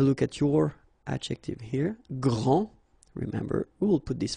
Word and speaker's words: grand: Okay, so phonetically, what you can hear is that this first form here for the masculine, grand, so you don't pronounce the final D, will be exactly the same as the plural form for the masculine, grand.